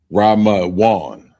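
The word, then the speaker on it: רמון: And the first word is pomegranate, and it's pronounced Ramawan.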